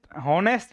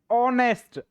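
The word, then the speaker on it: honest: Horse को देखते ही हम इसको ऑनेस्ट होनेस्ट नहीं बोलते इसको। इसको हम बोलते हैं ऑनेस्ट। इसमें एच साइलेंट रहता है। यह साइलेंट है ये एच।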